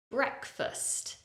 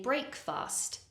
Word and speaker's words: breakfast: was a child breakfast because the first part of the word is spelled like the word break a common mistake is to say break fast break fast but listen to me breakfast so the first part of the word has an e bre and then the second part of the word because that syllable is not stressed it has a weak uh sound so it's not fast it's first listen breakfast